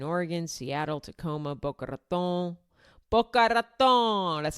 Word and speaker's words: Boca Raton: Boca Raton, that's how you say it.